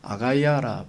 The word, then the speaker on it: 아가야: 있는데 북쪽을 마게도니아라고 표현하고 남쪽을 아가야라 표현하면 우리가 어린아이를 아가야 그렇게 표현하는데 발음이 똑같습니다 그리스를 둘로 나누는 우리처럼